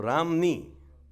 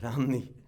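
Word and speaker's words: Romney: को ऐसे vice president रोमनी थे तो रामनी अमेरिका का स्टाइल रामनी हम लोग जो इंडिया का प्रोनाउंसिएशन रोमनी होता है यहां रामनी go straight that down with other ऐसा करके वो एक्शन करते हैं।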